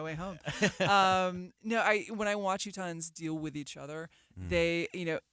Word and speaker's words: Utahns: But I do think that when I watch Utahns, I've never said that word.